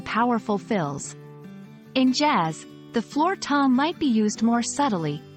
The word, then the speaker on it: floor tom: Floor is straightforward, just like the floor you walk on. Tom rhymes with palm.